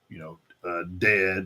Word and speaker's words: DED: you said, Dope, and, Dead, or DED, however y'all want to pronounce that. I know people say it both ways, but I call them Dead because it's DED.